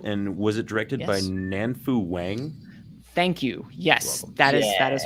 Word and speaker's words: Nanfu Wang: It is on HBO, and was it directed by Nanfu Wang? Thank you. Yes, that is her. It's good pronunciation there too.